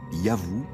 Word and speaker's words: YHW: Ce nom, qui devait se prononcer Yavou, était sans doute celui de leur dieu protecteur.